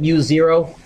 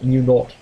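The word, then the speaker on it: mu naught: front is m not you can call it mu0 my physics teacher in high school who I still love was British and he always called it m not and that's how I learned how to say it so I'm going to say m not and sometimes I'll even say it with a British accent if I'm really back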